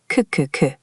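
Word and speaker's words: ㅋㅋㅋ: The character k sounds like k and when you repeat it, it mimics the sound of laughing. Ku ku ku.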